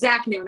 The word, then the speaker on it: Zaknoun: It's Zaknoun. I know it's spelled Noun. I know, but it's pronounced. So.